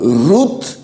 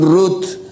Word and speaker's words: Ruth: Por ejemplo, Ruth, ellos no dicen Ruth, dicen Ru.